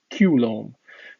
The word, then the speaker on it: Coulomb: of work on electricity if you pronounce coulomb with a french accent his name is actually kulom so since his name